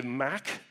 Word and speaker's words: MACH: um by the way if you're in Europe you say mac the Mac Alliance uh I call it mock whatever uh jury still